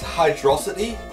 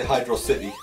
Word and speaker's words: Hydrocity: how to pronounce this is it hydrocity or hydrocity a lot of people seem to agree that it's hydrosity but some people still say hydrocity even though it doesn't